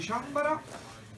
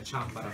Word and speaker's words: Chanbara: data del Tour di Ciambara, la pronuncia è Ciambara, non Ciambara, e io e Andrea siamo